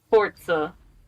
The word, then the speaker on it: Forza: racing game mode yeah Forza it's pronounced like pizza it's Forza Forza Forza for for